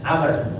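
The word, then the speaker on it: عمرو: Abi Amr setelah roknya ada waw. Kalau nggak ada waw dibacanya Umar. Ya, kalau nggak ada waw dibacanya Umar. Karena ada waw jadi dibacanya Amr.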